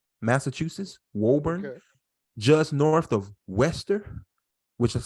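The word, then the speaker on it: Worcester: uh Woburn Mass Massachusetts Woburn just north of Wester which is spelled w-o-r-c-e-s-t-e-r it's spelled worser but in Mass it's pronounced Wester okay get if you ever go to Massachusetts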